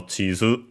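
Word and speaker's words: 地図: I think an accented, I'll check just to be sure. Nope, it's actually accented, so Chizu. Also pretty sure there's an opening of One Piece that's called Kokoro no Chizu.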